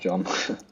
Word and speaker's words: John: john john essentially john it's pronounced john my mistake does reluctantly find the